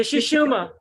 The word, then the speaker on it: Sushumna: The Sushumna. Yes. Interestingly, in the Sushumna, there's Ida and Pingala. Now, Ida and Pingala are the two serpents that the caduceus that wind around the Sushumna.